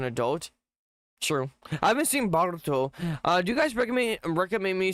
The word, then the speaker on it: Boruto: I haven't seen Boruto.